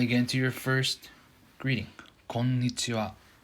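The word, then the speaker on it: こんにちは: packed konichiwa to get into your first greeting konnichiwa konnichiwa konnichiwa konnichiwa if that's too fast for you you slow down a little bit konnichiwa konnichiwa amazing yeah that's the first actual lesson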